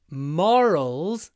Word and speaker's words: moral: floral or or and when we have o r followed by a consonant like morning it's always a long or floral morning but morals it's a short o moral morning moral it's